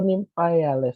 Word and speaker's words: Nymphaeales: Lalu ada ordo Nymphaeales. Nah, ini juga susah kan kalau kamu bacanya tadi gitu ya, Nymphaea ya. E-nya dibaca kayak iya aja, jadi dilewatin Nymphaeales.